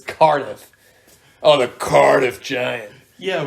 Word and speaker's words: Cardiff: I can say that I prefer how cardif sounds but I am wrong and it's Cardiff oh the Cardiff giant